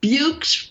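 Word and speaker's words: Buoux: these names yes okay bukes rhymes with dukes but it's spelled b-u-o-u-x yep it's crazy it's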